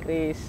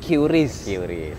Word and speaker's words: QRIS: Baca aja Kris gitu. Kris ya, Kris. Karena saya sempat belakangan ini orang sedang memperdebatkan itu. QRIS atau Kris. Kalau saya sih nyebutnya dulu QRIS. Tapi sekarang semenjak dikonfirmasi bacanya adalah Kris, saya nyebutnya Kris.